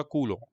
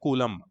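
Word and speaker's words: Coulomb: एक साइंटिस्ट था जिसका नाम था कूलो, कूलो, जिसको इंडिया में बोलते हैं कूलम, बट एक्चुअली उसका फ्रेंच प्रोनाउंसिएशन है कूलो।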